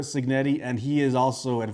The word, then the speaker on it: Cignetti: As a matter of fact, Indiana head coach, Kurt Cignetti, and I'm sorry if I butchered that. Kurt Sig, sorry, Kurt Signetti. Sorry, I got the I Googled him as he once said, and it is in fact Curt Signetti, and he is also in fact a winner.